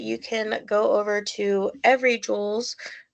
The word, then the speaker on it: Evry Jules: And then your reward is that you can go over to Every Jules, it is spelled EVRY Jules, and use the code Mary788 for a percentage off of your order.